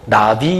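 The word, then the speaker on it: נביא: 선지자 라는 말 듯 히브리 만 발음으로 나비 이라고 하는데요 그 본래의 뜻을 직역하면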